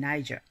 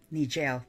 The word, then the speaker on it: Niger: Algeria, and to the south by Chad and Niger, or Niger, as some people may pronounce it.